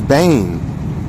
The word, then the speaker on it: Ben: you got binyami Benjamin but Ben is Bane I try to tell y'all y'all didn't listen yeah that's how you say it Bang so when you